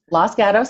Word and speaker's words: Los Gatos: service got us do I say it right Los Gatos auto service yeah my Southern drawl so thank